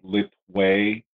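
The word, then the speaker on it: Letwei: or a branch of Bando called Fang, which is spelled T-H-A-I-N-G. There is a component called Lit Wei, that is L-E-T-W, it's either W-H-E-I or W-E-I,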